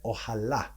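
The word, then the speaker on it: אהלה: Ohalo, though, is spelt without punctuation, and it is read ohala. Ohala, meaning her tent, referring to her, Sarah, or the other one.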